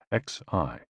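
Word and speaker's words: xi: with the spleen and x i pronounced like she which connects the whole body the following poem by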